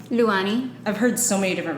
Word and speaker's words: Lwany: to hearing it, is Lwany. But I know a lot of people can't pronounce it that way. Yeah. So, if people are struggling, I always say think of Lou and then Annie.